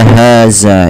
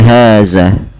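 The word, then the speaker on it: هذا: Begitu pula hati-hati dalam melafalkan dza atau melafalkan huruf dalal jangan terganti dengan bunyi suara huruf zai ya teman-teman. tidak boleh kita ganti dengan apa namanya ee inna haza gitu ya.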